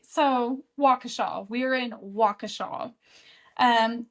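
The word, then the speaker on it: Waukesha: So, when I said the name of the town last episode, I think I said like Wisa or something like that. That is not the name of the town. It's a Wakaaw.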